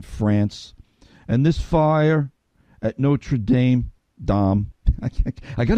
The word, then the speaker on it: Notre Dame: little bit transparent here until this past week I've always pronounced that Notre Dame everybody I know around me on Long Island pronounces at Notre Dame and all week long I'm here no true Dom no true Dom and I'm